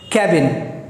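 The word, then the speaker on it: cabin: कैबिन, के और कै में बहुत फ़र्क होता है। सो कैब सुना ही होगा आपने, कैब मतलब कार। सो कैब में इन जोड़ दीजिए, इट विल बिकम कैबिन।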